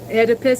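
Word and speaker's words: Oedipus: So, Edipus, it's with an O. The O is silent.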